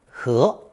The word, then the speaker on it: 和: Most commonly, second tone 和, 和.